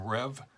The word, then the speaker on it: Reve: This is another one from Reve Brewing, R-E-V-E, I believe it's pronounced Rev, in Atlantic Beach, Florida, up in the Jacksonville area.